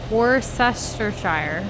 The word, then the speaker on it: Worcestershire: your first response I can't say it worse worse sestershire yeah that yep nailed it which did you